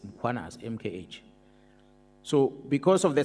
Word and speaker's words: Mkhwanazi: them to pronounce muanaz, they will put an a after m. They will say muanazi and there's no a muanas.